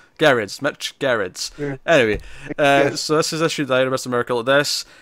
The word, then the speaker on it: Gerads: Yeah, it's a hard G. Hard G.